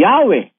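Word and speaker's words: Yahweh: while inclining to view the pronunciation Yahwe as the more correct way we have the form Jehovah because of people's familiarity with it for uh since the 14th century.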